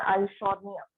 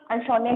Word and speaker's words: Eichhornia: Water hyacinth, इसी का नाम आता है आइशोर्निया. आइशोर्निया की स्पेलिंग लिख लो, EICHHORNIA. Water hyacinth HYACINTH. आइशोर्निया EICHHORNIA.